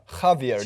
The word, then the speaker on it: Javier: I'm correct, J's are pronounced with an H sound. Ha. Is it? Javier, Javier.